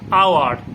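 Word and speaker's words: hour: অর্থাৎ এইচ যে কথাটা, এটা সাইলেন্ট থাকে, উচ্চারণটা হয় না। যেমন তোমাকে আমি বলি আওয়ার, এইচ ও ইউআর, আওয়ার, তাই না, আওয়ার, এইচ ও ইউআর,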